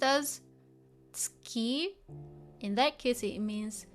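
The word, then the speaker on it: 月: I know this one can be pronounced as tsuki.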